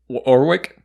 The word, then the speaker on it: Warwick: his name correctly and it's warwick orwig oh warwick orwick i'm joking in in the thing in the thing he goes drop the w and then they drop